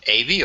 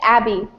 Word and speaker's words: Abby: Is it Avi or Avi? It's Abby. Avi. Okay. Abby with a short A sound.